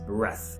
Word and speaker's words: breath: The first word without E is breath.